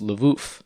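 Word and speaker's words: Lwów: name for lui was lev spelled with ws but pronounced like v's because polsky uses the letter w to represent the sound so the city went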